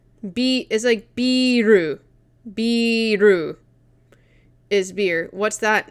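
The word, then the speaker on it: ビール: As like a generalization, and this is like biru.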